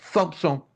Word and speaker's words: Thompson: Se pronuncia, escreve Thompson, mas se pronuncia Thompson.